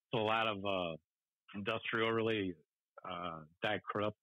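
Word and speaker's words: Die Krupps: Just a lot of industrial, really, Die Krups or D Krups, I think they're pronounced.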